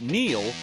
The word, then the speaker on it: Neil: It's no coincidence that Neil rhymes with deal because that's something you could always count on with the leader in tires and auto repair for nearly a century.